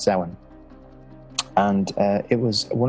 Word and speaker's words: Samhain: of samhain and it's spelled samhain but it's pronounced seven and uh it was one of the calendar